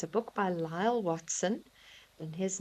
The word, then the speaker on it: Lyall Watson: So, it's it's a book by Lyall Watson and his name is spelled L Y A L L and then Watson W A T S O N.